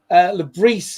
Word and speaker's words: Le Bris: A bit like, by the way, Regis Le Bris, who we've called Le Bris from day one,